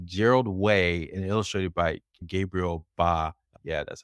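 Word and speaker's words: Gabriel Bá: was written by Gerald wayi and illustrated by Gabriel ba yeah that's how you pronounce it and Gerald wey used to be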